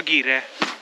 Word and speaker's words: ger: ‘GER’ I thought it is ‘Gir’ It is pronounced as ‘Ger’ You can see many Ger here.